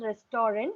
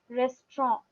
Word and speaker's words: restaurant: H restorant now we will not use or pronounce it as restorant I know it is written restaurant but we will not pronounce it as restaurant we will pronounce it as Resturant okay rest No Rest only rest ma'am yes